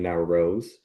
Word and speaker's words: Nowrouz: One of the reasons I use Rose Acupuncture helps people pronounce my last name now Rose.